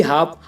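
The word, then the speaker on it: half: अब ऐसे ही हाफ। अब हाफ में देखो गाइस, एफ से पहले एल आया हुआ है तो इसमें एल साइलेंट है और इसकी हिंदी है आधा।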